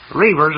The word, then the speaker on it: Reavers: Reavers is spelled just like it sounds. It rhymes with beavers, but it's spelled differently naturally.